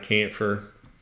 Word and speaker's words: chamfer: we've always put some kind of camphor in it's spelled with a F chamfer like that but it's